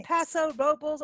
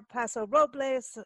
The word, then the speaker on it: Paso Robles: fall morning here in Paso oh there's a paso robles or paso robles or well all all of the above passive